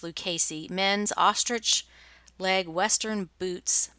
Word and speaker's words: Lucchese: Nadia, who sold these Lucchese. That is, I believe, how you pronounce it. Someone in Texas told me that it's pronounced Lucchese. It looks like Lucchese, but it's Lucchese.